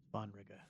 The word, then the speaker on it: Svanrige: Svanrige. Okay, that's how it's pronounced, and that's who would become king otherwise.